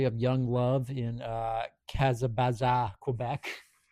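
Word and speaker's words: Kazabazua: And then there's a bit of a story of young love in uh Kazabaza, Quebec. It's pronounced as it's spelled.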